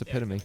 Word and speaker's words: epitome: that's that's how it looks the word is pronounced epitome I know but epitome is also a word